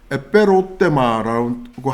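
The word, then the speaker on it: ἐπερώτημα: 정확하게 말씀을 드리면 원어의 발음은 이렇습니다. 에페로테마라고 하는데요.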